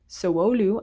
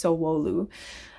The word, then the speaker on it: Sowelu: Sowelu. I never know how to say it, but I think it's Sowelu.